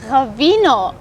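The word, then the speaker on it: ღვინო: georgians call it right actually you should work on pronunciation of because it's ravino yes because we are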